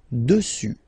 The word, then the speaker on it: dessus: Final S not pronounced. Dessus.